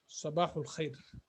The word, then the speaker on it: صباح الخير: So the other ones are also Sabahul Khair.